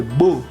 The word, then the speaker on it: beau: Nous jouons dans le jardin quand il fait beau. ¿Por qué beau? Es porque también que la AU y la EAU se pronuncia como O.